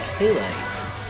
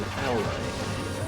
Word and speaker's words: halite: Also, slight pronunciation correction, it's more like halite than howlite.